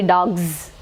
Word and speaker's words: dogs: When it becomes plural form, the pronunciation will be dogs, z sound.